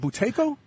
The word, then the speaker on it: Buteyko: mcewen uh he is with the buteyko i'm pronouncing that right is it buteyko yeah buteyko georgia tako clinic uh uh in